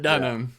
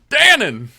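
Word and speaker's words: Danan: Elora Dunham. Dannon. I want to say Dunham too. Dannon. Like the yogurt. Right? Dannon yogurt.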